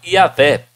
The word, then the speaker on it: Yahvé: Vários escritores gregos primitivos da igreja cristã testificam que o nome era pronunciado Yahvé.